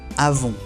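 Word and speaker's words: avons: Avon. La on n se pronuncia on. Y la última s al final no se pronuncia.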